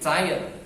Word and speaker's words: tired: Kamu pasti tired, bacanya tired. Jauh sekali ya, tulisannya tired tapi bacanya tired.